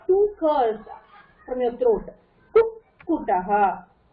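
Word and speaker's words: कुक्कुटः: That poo you can keep it separately, but then after you pronounce poo, you're getting sound of two curls from your throat. Kukutaha. Kukutaha. Kukutaha.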